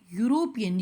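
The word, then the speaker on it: European: है और साउंड की साउंड क्या आ रही है यूरोपियन you means E silent है यहां पर तो हम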